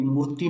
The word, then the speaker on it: मूर्ति: उनका मानना था कि मूर्ति में THY संस्कृत मानदंडों से भटकाता है, इसलिए संस्कृत में मूर्ति की सही प्रोनाउंसिएशन के लिए TY आना चाहिए, ना कि THY।